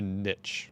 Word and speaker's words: niche: Like it's a niche or a niche, if you're saying it correctly, but I say niche.